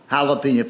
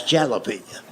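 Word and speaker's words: jalapeño: That's jalapeno. And I made the mistake of trying to explain that to him. I said, I know it's a J, but it's pronounced with an H.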